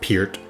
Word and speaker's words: Peart: Neil Peart was born on September 12th, 1952 in Hamilton, Ontario, Canada. Haha, gotcha. I know his last name is pronounced Peart.